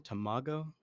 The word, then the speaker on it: Tamago: And like honestly, like and Tamago, how do you pronounce his name? Tamago?